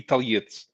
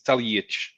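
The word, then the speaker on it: Talajić: The accent tells us it's a H sound, right? The accent turns C is pronounced T in Slavic languages. Mm-hmm. The accent turns the T into a Ch. Ah. So what would it be without the accent? Talajic. The J. Talajic. It would be Taljit, but with the accent it's Taljic.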